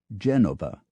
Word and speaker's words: Genova: not Milan but Milano not Genoa but Genova to the Danes it's